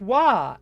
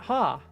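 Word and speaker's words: は: pronounced wah and not ha h. So this is the ha hiragana from the hagio, but it's pronounced wah here because it's a particle. So, as a particle, ha is always pronounced wah.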